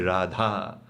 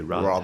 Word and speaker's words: Radha: It's a completely different rolling of the Rs like how we say Radha they say Rha that's okay like